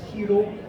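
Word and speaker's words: しろ: Alors, le R japonais, on ne va pas tout à fait le prononcer comme en français, il va être beaucoup plus léger, ça va être Shiro. Hein, ça ressemble limite à un L.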